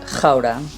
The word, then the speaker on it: Gouda: PS, Gouda in Dutch is pronounced Gouda.